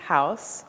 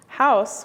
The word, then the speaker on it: Huis: De Broeker decided to call this piece Huis, which is spelled H-U-I-S, and is the Dutch word that translates to home.